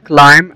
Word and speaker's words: climb: ده وعندنا كمان كلمة climb climb يعني يتسلق وطبعا البي في اخر الكلمة هنا وقبل منها ام فهي جاية سايلنت عندنا دروس ازاي ننطق